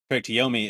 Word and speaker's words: Yomi: that cares, Yomi is available for pre-download and pre-install on Game Pass currently.